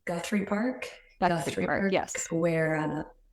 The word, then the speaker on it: Guthrie: I can never pronounce it right. Guthrie Park.